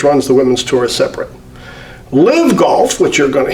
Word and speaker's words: LIV: starting with its name which when pronounced rhymes with give we call it live but it's actually the Roman numeral for 54.